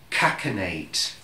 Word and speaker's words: cachinnate: cachinnate. Cachinnate. And it's spelled C-A-C-H-I-N-N-A-T-E. Cachinnate. That's how it's pronounced. It's not cachinnate, it's cachinnate.